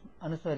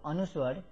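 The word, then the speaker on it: अनुस्वार: This dot is called anuswar and this dot is used, anuswar is used to nasalize a syllable. Pa cha, pa cha. This sign here is called chandrabindu or anunasika. Chandrabindu or anunasika. So anuswar, this dot here and this chandrabindu, they have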